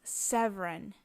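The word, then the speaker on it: Seweryn: one boy's name is severon and you see I have two spellings there the traditional polish spelling is on the top severon the W's are pronounced V's in Polish but it has the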